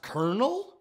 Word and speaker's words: colonel: gay helium changes your voice wonder woman batman colonel mustard in the kitchen with a candle stick it's pronounced colonel this is nitroglycerin you